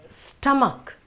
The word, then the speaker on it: stomach: these sounds are now this is stomach not stomach not stow because it's sto you are saying stomach no or some will say so much because th is it no